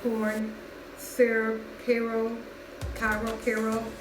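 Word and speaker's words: Karo: I'm using it's just regular like corn syrup Cairo Cairo Cairo pronounced but that's what I used and I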